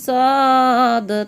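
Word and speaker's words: ص: সদ উচ্চারণ কেমন হবে? সদ সামনের নিচের দাঁতের আগা থেকে শীর্ষসহ পাতলাভাবে আদায় হবে, নইলে সা অথবা সিন অক্ষর আদায় হয়ে পড়া হারাম হয়ে যাবে।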